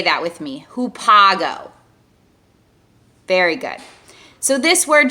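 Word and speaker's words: ὑπάγω: very specific kind of meaning the word is pronounced who Pago so maybe you can say that with me who Pago very good so this word just means go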